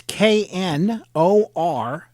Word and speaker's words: Knorpp: And I should point out for folks that Knorpp is spelled, and the K is silent, folks. It's Knorpp, and it's Knorpp.